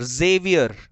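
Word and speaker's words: Xavier: एक नेम बताता हूं आपको इंग्लिश में, Zavier, जेवियर। इस नेम को क्या पढ़ेंगे मालूम? जेवियर। एक्स से है, जेवियर पढ़ेंगे।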